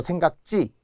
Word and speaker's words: 생각지: 탈락하기 때문에 생각지 못했어요 발음도 생각지 치라고 하면 절대 안 돼 생각지 자 비슷한게